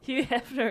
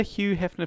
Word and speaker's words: Hugh Hefner: Hugh Hefner is correct. You're not meant to pronounce the G, are you? Hugh Hefner. Hugh Hefner.